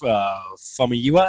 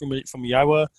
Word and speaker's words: Famuyiwa: This is This is directed by Rick Famuyiwa. I think is how it's pronounced. Famuyiwa.